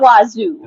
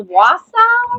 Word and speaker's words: Wausau: I know it's not Wazoo. Okay. I think it's Wausau.